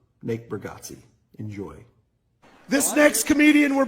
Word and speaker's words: Bargatze: Nate Burggatsi.